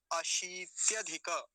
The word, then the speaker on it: अशीत्यधिक: इसको कैसे उच्चारण करेंगे, अशीत्यधिक, अशीत्य, अशीत्य, पहले तालव्य शकार, उस पर दीर्घ ईकार है, बड़ी ई की मात्रा है, तो लंबा खींच के बोलेंगे थोड़ा सा, क्या हो जाएगा, अशीत्यधिक, और इसके साथ ही